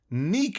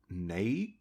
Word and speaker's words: NECA: has gone back to NECA , or uh... NECA ... National Entertainment Collectibles Association... I'm gonna pronounce it NECA , feel free to correct me in the comments if I'm being a dumbass.